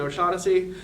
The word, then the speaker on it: O'Shaughnessy: are in the middle much like I have silent G's and H's and O'Shaughnessy my cousins will say